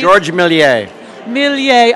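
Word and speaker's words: Georges Méliès: Trumbull you are recipient of the could you pronounce it for me please Georgia milli a milli a award this evening yeah I had a silly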